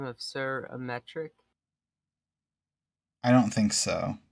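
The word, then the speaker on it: Aymeric: Sir, have you met someone by the long name of Sir Ametric? I don't think so. Okay, that's how you say his name. It's not Amaric.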